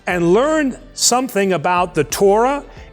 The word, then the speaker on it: Torah: Judaism around the Torah scroll that Hebrew word Torah or Torah is the proper pronunciation means learning it is often called The